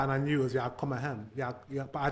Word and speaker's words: Jag kommer hem: As you just heard, this is actually pronounced jag kommer hem. Jag kommer hem. The last word has a sentence emphasis, while the two former words are unstressed and thus blend together.